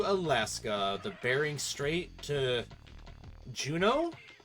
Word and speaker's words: Juneau: the Bering Strait to Juneau? I think that's pronounced Juneau. It's like that EAU that like some French words have, you know? Like, you know, there's people named Beau, but it's spelled like BAU or whatever.